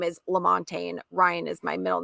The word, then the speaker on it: Lamontagne: My last name is Lamontagne. Ryan is my middle name, but Lamontagne is very long. So that's why we have Ryan there. Anyways, I'm blabbing. What is happening? I need food. No. So Lamontagne, Yes, did I say it right?